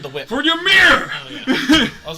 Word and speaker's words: Ymir: Y is silent. For mirror. It's YMIR. Yeah, that's your mirror. Well, a little different spelling. In Norse Is that your mythology, character's that's how you spell it. But it's, yeah, Y-M-I-R. but it's mirror.